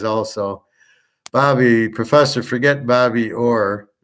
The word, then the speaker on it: Orr: But it's ORR. Only you could pronounce Bobby Orr, ORE.